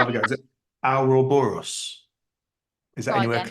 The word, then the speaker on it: Ouroboros: Is it Ouroboros? Is that Try anywhere again. close? Oh, Jesus. Ouroboros? Ouroboros, there you Ouroboros.